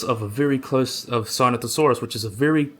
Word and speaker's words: Sinosauropteryx: It was not Sinosauropteryx, it was Sinosauropteryx.